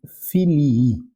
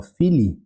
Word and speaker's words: filii: Muito importante pronunciar os 2 is, tá? Isso é uma coisa que às vezes as pessoas erram. Porque se vocês pronunciarem só filii com um i no final, isso aqui vocês estão chamando o filho, né?